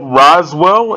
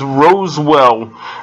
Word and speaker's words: Roswell: show first came out i didn't know how to pronounce it i thought it was rosewell and that's only because i